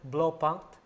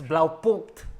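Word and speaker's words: Blaupunkt: Wait, you know, okay, Filipinos pronounce it blow punked. What's that? You know that dash, okay, yeah. Blow punked. Okay, what is that? It's blau punked.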